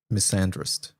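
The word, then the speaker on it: misandrist: Missandrist. Did I pronounce that right? A grandest clipped Miss and wrist. Oh, the wrist is separate. It's not driest. Missandrist.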